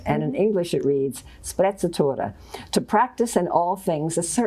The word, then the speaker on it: sprezzatura: And I'll just spell it. It's S-P-R-E-Z-Z-U-T-U-R-A. No, S-P-R-E-Z-Z-A-T-U-R-A, sprezzatura.